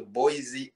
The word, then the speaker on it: Boise: boys identification and and probably i was saying boyce is wrong too and i did not pronounce it no what i see boise or i don't know what it is i was yeah you're thinking hawaii's boy there's an eye in there there's an eye in there